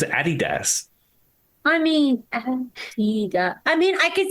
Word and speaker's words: Adidas: Yeah, I'd never heard of the pronunciation Adidas until I lived here, because I always thought it was, knew it was Adidas.